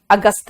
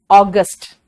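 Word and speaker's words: August: मे जून जुलाई अगस्ट अगस्त नहीं अगस्ट सिंबर अक्टूबर अक्टूबर नहीं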